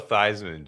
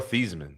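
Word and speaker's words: Theismann: Joe Thy Joe Thyman changed his name to sound like Thyman when he was in the Heisman race. So your name his name was Joe Thesman. That's how he used to say his name when he was at not at Notre Dame.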